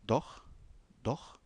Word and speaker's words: doch: Alors le CH de doch ici se prononce comme le R du mot prémisse ou prendre.